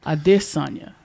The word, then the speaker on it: Adesanya: And Adesanya is how you pronounce Adesanya.